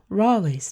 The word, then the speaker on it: Raleigh: a fact which proves how it should be pronounced rawley's name was built by himself and by his